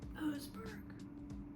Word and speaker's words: Oseberg: Oseberg or Osberg? Oseberg. Okay. I was gonna say that wrong.